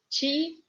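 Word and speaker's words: Чикаго: Why do we read this O as A? Here is written O, but the accent, the stress is on A. That's why we read Chikaga.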